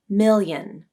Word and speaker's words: million: let's first talk about how many syllables are in this word million just 2 mil yen million the transition between the